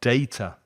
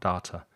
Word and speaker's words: data: a good wi-fi connection and data not data data so a data connection for